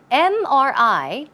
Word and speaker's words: MRI: a consonant right but the M when you pronounce the M you pronounce it as m m it starts with a vowel sound e and that's why it should be on MRI not a MRI okay keep that in